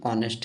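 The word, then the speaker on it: honest: ठीक है अब देखो ऑनेस्ट मैन यहां पर ए साइलेंट होता है ठीक ना एच क्या होता है साइलेंट होता है इसका सही प्रोनंसिएशन ऑनेस्ट है तो इसले भी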